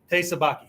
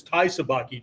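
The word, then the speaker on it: te sabaki: Baki right hey right I didn't misspell or mispronounce Thai okay somebody brought that up like it's Thai sabaki dude no it's not it's part of it but this is TE okay okay is one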